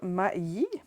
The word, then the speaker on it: Ma Yi: sont du chinois, là, Ma Yi. Je dois pas mal le prononcer parce que C'est assez. c'est assez C'est maï. M-A-Y. C'est ça.